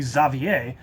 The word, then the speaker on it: Xavier: name is cool um the French pronunciation is actually zavier and I have friends